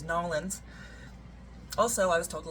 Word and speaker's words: New Orleans: Number one, my shirt, and I say it New Orleans. Apparently it's important that you guys know that my bus driver told me the correct way to say it is Nolans.